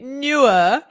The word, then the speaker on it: Neewer: answer oh no okay newer no you don't get to have a silent e no no new newer